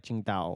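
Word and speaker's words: Tsingtao: are - it's our that's not how you say it but that's how it's spelled yes yeah TS ing Dao it's like Qingdao or something I asked a guy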